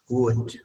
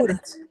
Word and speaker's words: would: Cuando estamos Sería la L, would. cuando vean una L en medio de una palabra, no la pronuncien, ¿ya?